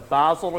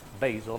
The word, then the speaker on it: Basel: capital what is the Basel agreement that's not pronounced Basel that's pronounced Basel there's a Basel 1